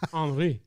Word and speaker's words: Henri: They didn't want a hurricane, and all of a sudden, every newscaster in the country started pronouncing French names right. Henri, like, what? Do you, come on! It says Henry with an I.